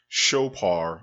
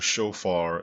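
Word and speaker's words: שופר: time the hebrew word shopar or shofar as it is pronounced in modern hebrew is ever associated with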